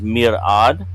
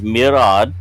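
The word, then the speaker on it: mir'ad: number one being scholar or scientist which is Mirad and that is spelled m iir Fon or Apostrophe a d and again that is Mirad we have leadership or command that is alom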